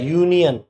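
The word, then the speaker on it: union: मैंने आपको बताया इसको क्या पढ़ता है, यूनियन, यूनियन। और यूनियन में जो पहला अक्षर है वो य आ रहा है, क्या आ रहा है, य।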